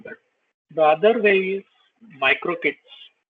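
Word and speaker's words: MicroK8s: the other way is micro kits it's micro K8 but uh people pronounce it as micro kits so micro kits again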